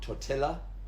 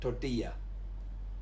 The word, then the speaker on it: tortilla: And the next two also have a double L, which is also a y sound, so it's not tortilla, it's tortilla.